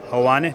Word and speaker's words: Helwani: Helwani, have I said that right?